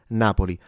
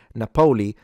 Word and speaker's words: Napoli: But in general, Napoli, what's wrong is to stress the po for example syllable. So if you say Napolei, yeah, that's wrong. No one says it like that in Italy.